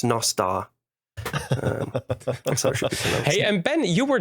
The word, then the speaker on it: Nostr: no star nostal but it seems that people are starting to pronounce it Nostra which is completely wrong so it's nastar hey and Ben you